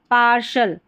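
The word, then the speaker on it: partial: यह है पार्शल। पार्शल यहां पर टी आई एल को शल पढ़ा गया है।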